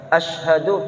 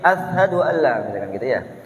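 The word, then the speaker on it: أَشْهَدُ: kita ketuk-ketuk terkadang Ayah sedang membaca Asyhadu tapi Ashadualla Ashadualla Ashadualla atau Ashadualla Ashadualla asyhadu alla itu kadang-kadang juga terucap kata gadang ketuker huruf-hurufnya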